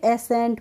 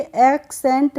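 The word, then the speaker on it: ascent: ई एन टी तो इसे हम क्या पढ़ेंगे एसेंट पढ़ेंगे एसेंट पढ़ेंगे एक्सेंट नहीं पढ़ते हैं तो इसमें एसेंट पढ़ने में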